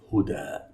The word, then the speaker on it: هدى: This letter is not ya. It is written like ya. It is pronounced as alif. Huda, not hudi.